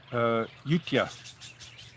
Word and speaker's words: Ayutthaya: The Thai people, the older Thai people say Utia. It sounds like a D in it. Utia, they say. But you know, today it's Euthia.